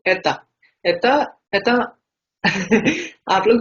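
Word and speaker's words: это: जैसे आप लोग यहाँ पे देख भी सकते हो कैसे लिखा जाता है इसको, एता, ए त ओ, एता। लेकिन इसको रीड हम लोग एता करेंगे, जैसे ई टी ए है।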